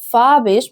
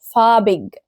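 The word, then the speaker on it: farbig: هنا في موضوع نطق الجي لما تكون في اخر الكلمه وقبلها اي بتتنطق شين فقلت فابش ما قلتش فابج تمام طيب ليه هنا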